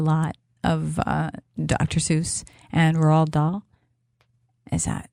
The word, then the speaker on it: Roald Dahl: Seuss and Roald Dahl.